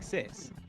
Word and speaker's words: Cysse: know I'm gonna know how they told me to pronounce the name either way works so it's all good well I apologize how do I say it well I've been saying sis okay sis okay